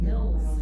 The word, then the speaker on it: Mills: People get that wrong. Mills. I'm like Mills. Mills. M I L Ls. I spell it.